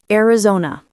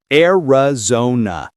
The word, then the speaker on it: Arizona: Arizona. Arizona. Notice the zo. It's not Arizona. That's a common mistake. The American O here is rounded.